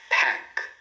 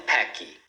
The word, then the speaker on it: pack: Pack, pack. Tá? E não packy. Did, did. Então o D a gente pronuncia com a língua aqui próximo aos dentes superiores.